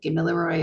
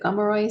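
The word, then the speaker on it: Gamilaraay: New South Wales um sometimes you'll hear gooy said giloy or killoy um my aie tells me to pronounce it gomoro so I do what she says but we're all the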